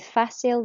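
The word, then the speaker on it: facile: end okay so Bastille difficile with facil the sea sounds like an S so remember you pronounce it like that okay fasten one more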